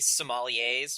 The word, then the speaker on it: sommelier: I like to consider us candy sommeliers.